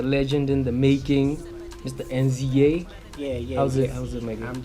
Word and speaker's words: NZA: I pronounce it NZA, It's but either NZA or Neza.